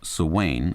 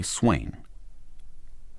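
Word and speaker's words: Souweine: Their surname is French and is pronounced Swain, or if one is in a hurry, Swain.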